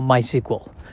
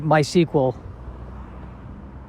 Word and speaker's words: MySQL: is how to spell my sequel it's i believe mysql but i believe it is pronounced my sequel as if it was spelled uh s-e-q-u-e-l and i don't know